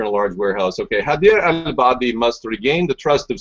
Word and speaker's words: Haider al-Abadi: I think his name is Yabadabadoo. His name is Haider al-Abadi. Al-Abadi, yeah. Haider al-Abadi. Yabadabadoo was not the correct pronunciation.